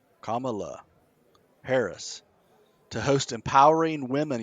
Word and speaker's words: Kamala: listen listen kamala harris wait wait you said it wrong no no comma oh yeah that was right kamala harris to host empowering